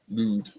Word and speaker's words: Lud: Lud or Lud? I bet it's Lud. Yep. Ooh, yeah, with a ooh. Lud.